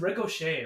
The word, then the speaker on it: Ricochet: I thought it was Riccchot. I missed the E. Yeah, phonetically it's like ricochet. Because it's ricochet, right?